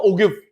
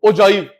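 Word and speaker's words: ogive: है, तू ठीक बोलियो ओजाइव। वो अपनी गलती समझ जाएगा, वो ठीक फिर प्रोनाउंसिएशन होगा उसका। मैम सर आप गलत बोल रहे हो, इसको ओगिव नहीं बोलते ओजाइव बोलते, ऐसे करोगे ऑफेंडेड फील करेगा।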